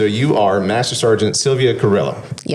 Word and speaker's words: Carrillo: Cuz if now you have to roll the Rs and then the L and it becomes Kjo and it's it's okay.